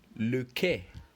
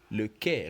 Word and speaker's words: quai: And for la lettre Q, we have the word le quai. Le quai. Remember, when we are reading this word, le quai, the U is silent.